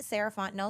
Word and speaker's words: Fontenot: find me at Ms sarant no so f o n t n o t the t is silent um that's me on